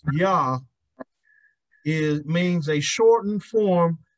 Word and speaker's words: Yah: spelled y a a it's spelled y a uh j a h but it's pronounced yah is means a shortened